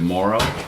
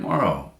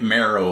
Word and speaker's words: Morrow: talking to you about the pronunciation of your name. What it's what? Mororrow. Is that another way people No. Well, they they say it any number of ways, but yeah, they I get marrow a lot, you know,